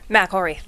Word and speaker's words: McElreath: And we're here with, and I've been saying her name wrong all this time. Say it. McElreath.